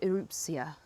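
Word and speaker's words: Erupcja: Help me pronounce it. Is it Eruptia? You know what? I'm still getting it wrong. You're close. Erupcia.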